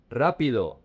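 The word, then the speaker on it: rápido: The next one rapido. The emphasis is on the R A.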